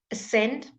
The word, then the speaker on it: ascend: So when it's SC, when very seldom say sk, okay, it's mostly s. So the silent letters C.